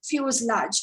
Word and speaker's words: fuselage: part is fuse large we pronounce it as fuselage okay okay pronounce so what is fuselage the body of